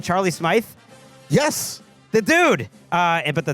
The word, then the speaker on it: Charlie Smythe: kick that was successful by, how do you pronounce the name? Charlie Smythe?